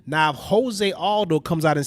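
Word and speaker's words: José: Well, bro, to be fair, we know that it reads Jose. We know that. Right, That's but a I hear very people pronounce it Josie all But the time.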